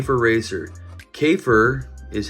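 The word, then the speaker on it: Käfer: her open now so volkswagen k for racer cafer is how you say bug in german so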